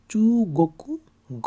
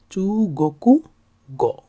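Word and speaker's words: 中国語: করে, এটা হচ্ছে গোকু, কোথায় গোকু কোথায় কোকু উচ্চারণ, সেটা হচ্ছে কান্ট্রি মানে দেশের কাঞ্জি। আর গ আমরা আগেই জানি, সো এটা হচ্ছে চু গোকু গ অর্থাৎ চাইনিজ ল্যাঙ্গুয়েজ, চু গোকু গ চাইনিজ ল্যাঙ্গুয়েজ।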